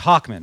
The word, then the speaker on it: Hochman: It's Hochman, right? Did I pronounce it right?